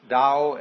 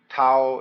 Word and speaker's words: Dao: called a Dao Dao pronounced Dao in the Mandarin dialect Tao in the Chung high